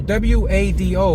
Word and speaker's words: WADO: to listen to radio w-a-d-o which is a Spanish station an AM station in Patterson and it's pronounced radio wado so I don't know